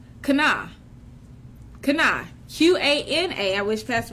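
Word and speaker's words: קנא: See, envious is a word called kana.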